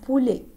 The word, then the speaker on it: poulet: Pour le masculin, premièrement, poisson, poisson, répétez avec moi, poisson, poulet, poulet, poulet, الET ما بنقولهاش ات بقولها poulet.